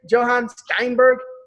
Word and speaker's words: Steinberg: Is that how you pronounce the last name? Johan Steinberg?